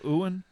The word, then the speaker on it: Ewan: Have you Ewan looks was really so good. good. Ewan McGregor looks so good. Are you calling him Ewan? Ewan McGregor? It's Ewan.